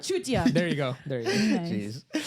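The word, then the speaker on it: चूतिया: Chutia.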